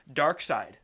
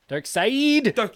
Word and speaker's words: Darkseid: it's that's gonna have to start setting up Darkseid yeah Darkseid it's Bernard s Eid I've actually enjoyed being